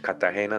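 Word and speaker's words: Cartagena: right that's in colombia or kurdish right kardash catagena that's how you say it in spanish were able to utilize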